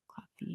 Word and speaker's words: Klaviyo: The platform that I use for it is Klaviyo. It's Klavio. Mhm. Klaviyo. You're right.